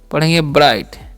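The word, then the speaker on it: bright: बीआर आई जी मैं एचटी (ब्राइट) पढूंगा। चमकदार। सही। वहाँ है? जीएच यहाँ चुप रहो।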